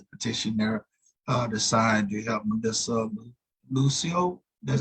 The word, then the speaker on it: Melissa Lucio: Like we have the petition there to sign to help Melissa Lucio. That's how you pronounce it? That's right. Melissa Lucio.